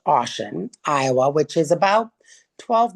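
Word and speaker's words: Ossian: Ashen, which is spelled O SS I A N. It's pronounced Ashen, Iowa, which is about 12 miles south of Dora in Winnick County.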